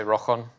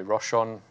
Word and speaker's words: Rochon: In Scotland you say Rochon with the ch sound for loch, so Rochon. But in South England they say Rochon.